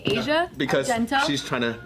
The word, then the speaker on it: Asia: So you guys know Asia? Asia? Well, that's how her name is spelled, but it's pronounced. No, it's Asia. Okay, Asia.